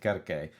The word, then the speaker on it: Circe: We say Circe. Um the Greeks probably said Kirke.